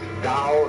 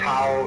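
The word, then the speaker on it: 道: all the DAO PA o pronounce dow in the Mandarin dialects Tao in the Shanghai dialect told and the companies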